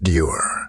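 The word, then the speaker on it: דור: have required using this Hebrew word, which is pronounced dur.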